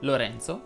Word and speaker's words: Lorenzo: la è chiusa vincenzo enzo lorenzo chiedono invece la è aperta giorgio si pronuncia con